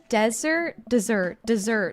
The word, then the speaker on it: desert: Desert. Thank you. Desert island, right? Desert island. Emphasis on the first syllable. Dessert has an emphasis on the second.